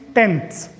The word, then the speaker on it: tenths: Even in the pronunciation also we have to show tens, tenths. Tens, tenths.